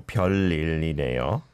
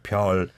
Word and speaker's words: 별일이네요: your 별일이네요. I like this phrase as well. 별일 있네요. You really separated those two syllables, right? 별일이네요. If you just combine it, then it would be perfect.